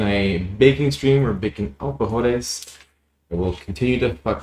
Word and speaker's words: alfajores: We'll be making alfajores. Jaime, correct me if I'm pronouncing that stupid. How are you supposed to pronounce it? Alfajores.